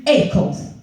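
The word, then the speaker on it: ἦχος: The word sound in the Greek term means echoes or echoes, even though it's spelled echo. But it is pronounced in the Greek echoes.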